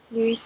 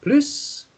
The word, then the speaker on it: plus: there isn't any more, then you don't pronounce the S sound at the end. So instead of saying plus, you would say plus.